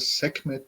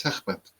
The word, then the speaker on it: Sekhmet: So you call it Sekhmet, but it's Sechmet. I don't know. segment. It's like a Segment. Khe. But I think Oh, hard is hard for you guys to pronounce. segment. Yeah, it's Sechmet. Yeah.